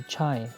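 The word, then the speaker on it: çay: That's why tea is pronounced chai in Turkish, the original sound of chaye, which means a tea leaf.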